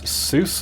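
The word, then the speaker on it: SUSE: the Linux magazines uh it was Seuss or suie or however you want to pronounce it and um yeah back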